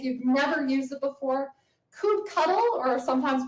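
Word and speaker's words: kubectl: Coupe cuddle or sometimes pronounced coupe control is how you interact with your Kubernetes cluster.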